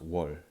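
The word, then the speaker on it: 월: And in modern Korean, it's pronounced wol.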